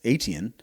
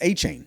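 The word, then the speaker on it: Etienne: you know, we thought his name was Travis Aten, but it is Achain. So he corrected his corrected our uh pronunciation of his name, and we've had it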